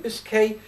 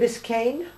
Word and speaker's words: Biscay: Bay of Biscay is further south. Is it Bay of Biscayne? Bay of Biscay. B-I-S-C-A-Y. I thought it was N-E and it's pronounced Biscay. Okay.